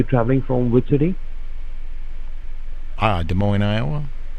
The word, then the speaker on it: Des Moines: we can go to we can pronounce it Des Moines good morning right right see